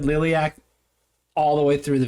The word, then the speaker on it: Liliac: Liliac. Well, we're gonna go back and just pretend that we said Liliac all the way through the video.